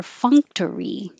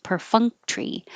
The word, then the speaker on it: perfunctory: three four syllables per perfunctory perfunctory or the t-o-r-y can get squished to just tree per funk tree and you're not releasing the k per funk tree i